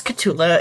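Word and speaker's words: K'tulah: I know I said it wrong about my my name is Cula.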